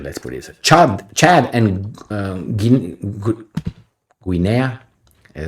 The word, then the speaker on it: Guinea: Chad and Guinea, is how you say it, have opposed both sanctions of Niger and military deployment.